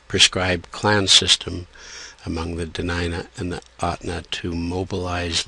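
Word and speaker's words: Dena'ina: meant to reflect the degree of difference this is spelled tanina uh for the denina here uh and uh we will talk about that on this Slide the original pronunciation is denina uh at least in the outer Inlet or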